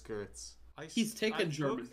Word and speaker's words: Gertz: The Z is like the Z is pronounced like an S, so it's Gertz.